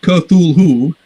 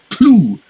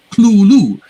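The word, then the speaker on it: Cthulhu: you know whatever and he says it's two syllables it's not kerthul who and the th is not even a th it's a very harsh l sound so it's basically he's phonetically renders it as k h l u l l o or something like that so that first syllable is clue clue very you have to do it very harshly and gutterly uh possibly europeans can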